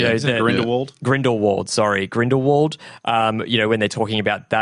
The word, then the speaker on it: Grindelwald: I can never say his name for the bindle wold okay you guys are in the world grindelwald sorry grindelwald you know when they're talking about